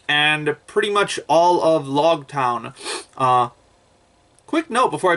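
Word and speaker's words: Loguetown: comments informed me that it's actually pronounced log town and it's spelled like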